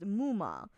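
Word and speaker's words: ムーマ: The Japanese used MMA, pronounced Muma.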